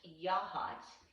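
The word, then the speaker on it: Yachats: the drift inn in yahats and yaha it's for all y'all not in oregon if you look at the word that looks like yachts y-a-c-h-a-t-s but it's pronounced yah hats loosely after the original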